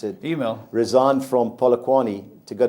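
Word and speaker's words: Eymael: Now, the manager, Luke Email, how do you pronounce it? Email.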